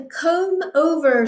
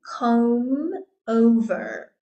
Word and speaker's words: comb over: Next we have a comb over. So there we've got that silent B again. Comb over.